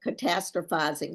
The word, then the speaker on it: catastrophizing: pronounce it correctly but if you just think of the word catastrophe and then you put catastrophizing on it yes catastrophizing goes on